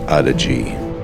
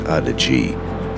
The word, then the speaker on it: Adige: And this is the Adige path. It's actually pronounced Adige.